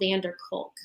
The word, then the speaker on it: Van der Kolk: VANDERKOLK. DER Vander. Yes, Vander. It's, I think there are 3 separate words. Van der Kolk. He's from the Netherlands.